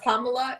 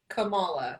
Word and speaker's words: Kamala: one more time it's not pamela it's kamala kamala you're like those are